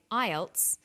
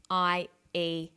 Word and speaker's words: IELTS: With an acronym, we don't pronounce the individual letters, we pronounce it as a word. So we say IELTS, not IELTS.